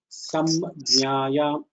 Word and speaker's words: संज्ञायाम्: So it should be pronounced as samjnaya, samjnaya. The jna should have a dvitva. It should have a duplicative effect. So samjnaya, you should press on that jna, saying that you are almost hitting that.